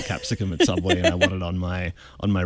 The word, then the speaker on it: Capsicum: journaling app called capisco is that how you pronounce it absolutely capsicum capsicum Australian word for bell pepper yes exactly